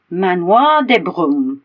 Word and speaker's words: Manoir de Broom: broom there you go manoir de broom I thought it was one word but it's not no no um and